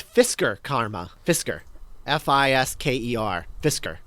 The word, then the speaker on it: Fisker: know what would be really funny about the Fisher Karma is that what it's called the Fisher Karma Fisher karma Fisher and spelled like Karma two separate words I'm seeing it it's Fisker Karma Fisker FIS keer Fisker oh yeah you're